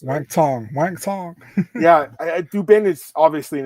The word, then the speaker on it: Wang Tong: That's how you pronounce it. Wang Tong.